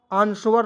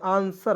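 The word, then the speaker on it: answer: बिंदी के रूप में एस ए आर एस स डब्लू ई आर को व आंसर नहीं पढ़ेंगे आंसर होता है डब्लू ई को इसमें साइलेंट करते हैं ठीक है आंसर चलिए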